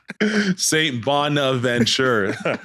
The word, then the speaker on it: Saint Bonaventure: Bonaventure to come in yeah that's how you pronounce it I know it's tough for some people out there but Saint Bonaventure so yeah coach Massey came up and uh